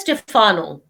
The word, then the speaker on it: Stephano: Pronounce it as Stefano. That sounds better.